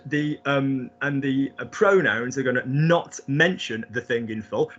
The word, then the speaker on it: nos: Yeah, like I am not coming, or a not.